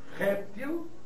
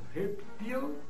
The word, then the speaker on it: réptil: Esse substantivo integra o numeroso grupo de substantivos da língua portuguesa que apresentam dupla prosódia, ou seja, dupla pronúncia. Tá claro? Então vamos aproveitar e listar alguns aqui. Nós temos Oceânia ou o Oceania, Balcans ou Balcãs, homíia ou homilia, hieróglifo ou hieroglifo, projétil ou projetil, réptil ou reptil, né?